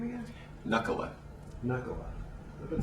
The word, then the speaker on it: Nakkula: Knuckle. Nakkula is kind of an American way of saying it.